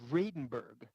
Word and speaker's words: Venberg: They're pronouncing his name Venberg.